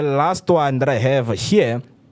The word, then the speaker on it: Hur: Is it pronounced as her or who? Her. Her.